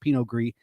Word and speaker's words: Pinot Gris: But when it's domestic, it's just GRIS, and then the S is silent, so just Pinot Gris.